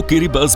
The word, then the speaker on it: Kiribati: दोस्तों, इस देश को लिखा तो किरिबाती जाता है, लेकिन यहाँ के लोग देश को किरिबस बोलते हैं, क्योंकि किरिबाती की लोकल लैंग्वेज में टीआई को एस के तौर पर प्रोनाउंस किया जाता है।